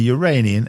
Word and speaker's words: Uranian: the same size as the Uranian and yes that's how you say it moons the authors use